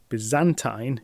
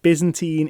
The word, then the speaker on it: Byzantine: comparent to me that Byzantine is the British pronunciation and Byzantine is in fact the American one so I think I